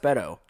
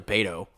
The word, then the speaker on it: Beto: And it's pronounced Beto, which is weird. I thought it was Beto, or he's a Like beta. beta? Yeah, it should be beta.